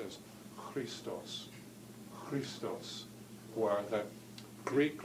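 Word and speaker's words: Χριστός: CH it's not pronounced that's K but it's pronounced as Christo's Christo's why that Greek letter Chi written with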